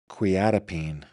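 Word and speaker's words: quetiapine: Now, let's bring up our victim here and head on over to your quiatapine, says Robin. Quiatapine is how that's pronounced.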